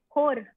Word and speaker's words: hor: Hoor. Are you it's H-O-R. Are you rolling the R? Hoor. Hoor. Yeah, you're rolling the R. You can say it normally. You don't always have to roll your R.